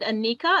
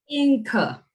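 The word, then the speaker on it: Inka: party i see an is it anika anika's no anchor okay you're gonna pronounce it for me inca inca okay thank you you're welcome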